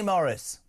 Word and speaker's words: Maurice: Maurice, it says here pronounced Maurice.